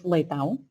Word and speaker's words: Leitão: This is a difficult one to pronounce, but it's Leitão.